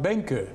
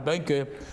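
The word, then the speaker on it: Benkő: grand master pal Benko although in Hungarian it's pronounced benka ya the Hungarians would refer to him as pal Benko but we knew him as pal Benko now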